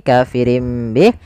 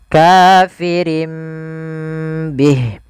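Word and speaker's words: كافر به: huruf mim kecil maka ini kita baca kafirin Bih awalnya kafirin Bih karena dia ganti suara nunnya kafirin Bih diganti dengan huruf mim kemudian ketika kita melafalkan ini kafirim Bih itu sebenarnya ada dua cara baca yang pertama dengan idbaq yang kedua dengan suara furjah tapi kita mengambil yang idbaak saja yaitu bibir kita tertutup dengan rapat kafirim Bih kemudian dan langkah selanjutnya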